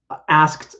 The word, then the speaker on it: asked: asked not asked no with the ed it actually is a t sound because the verb ends in a k so it's going to have a t sound so i'll say asked about i asked about